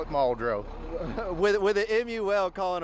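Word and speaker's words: Muldraugh: We we're called Maldro Fire Department.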